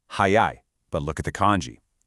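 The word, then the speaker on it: 早い: So both of these words are pronounced exactly the same, hayai, but look at the kanji.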